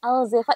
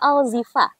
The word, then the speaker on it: Alzheefa: hari ini nih mengenai alzeva ini sebutnya alzeva atau alzifa alzifa Oh alzifa tuh kan sudah salah apa Iya benar karena e-nya dua ya Jadi dibacanya alzifa bukan alzeva yaia ini Z terus